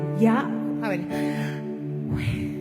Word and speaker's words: Yahweh: Y la pronunciación correcta del nombre de Dios es como que si usted está respirando, es ya a ver.